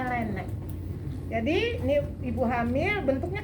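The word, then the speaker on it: Laennec: Pakai alat yang kayak trompet, lenek, laenek, pakai C tulisannya, laenek, ya bacanya lenek.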